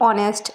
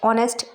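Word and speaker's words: honest: जैसे ऑनेस्ट, ऑनेस्ट एच से start हुआ है लेकिन यहाँ पर एच साइलेंट है।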